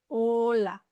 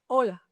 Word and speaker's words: Hola: In the Spanish, the H is silent. Listen. Hola. Hola. The H is there, but you don't pronounce it. Hola.